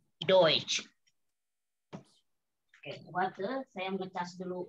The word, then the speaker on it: Deutsch: Di sini Deutsch ada EU dibacanya oi. Ya, Deutsch.